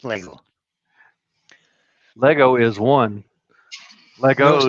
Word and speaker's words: Lego: It's Lego or Legos? It's just Lego. There's no S in Lego. It's Lego. Lego is one. Legos not.